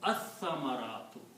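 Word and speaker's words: الثمرات: But when we recite, we do not recite lam. We combine alif with this sa, so it pronounces as-samaratu. Okay. So this word will become as-samaratu. Samaratu. Okay. Lam is not recited, so you combine alif with this sa, and sa will have twice the sound.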